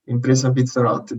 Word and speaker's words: Impresa Pizzarotti: Now you're going to pronounce that properly for me. That's perfect, Kevin. Impresa Pizzarotti, that's perfect.